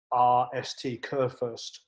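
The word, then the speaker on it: Kurfirst: those that want to know his last name is spelt k-u-r-f-i-r-s-t kurfurst and it was a hugely successful manager who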